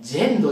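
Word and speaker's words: yendo: てまいりましたポルケクエじゃなくて毛そしてジェンドです Y は J と発音でしたねなので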